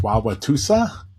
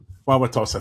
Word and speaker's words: Wauwatosa: And I looked up, and I'm going to try to pronounce this, Wauwatosa, the city in Wisconsin. Wauwatosa, thank you so much.